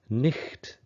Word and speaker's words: night: two-thirds into the text if you hear it pronounced as nicht you suddenly see that the spelling makes sense it's just that the